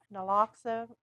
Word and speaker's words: naloxone: the administration of overdose reversing medications such as naloxone. I have difficulty pronouncing that.